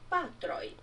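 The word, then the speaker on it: patroj: Basta colocar aquela letrinha que em português se pronuncia J, em Esperanto ela se pronuncia I. É um I breve. Amico. Amicoi. Patro. Patroi.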